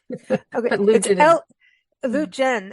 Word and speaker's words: Leutjen: I apologize profusely but the name like nine we we take all pronunciations L Jen okay it's l u t Jen for everyone um L Jen